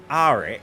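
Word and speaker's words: Airk: Some people call him Eric. Some people are calling him Arik because it does start with an A.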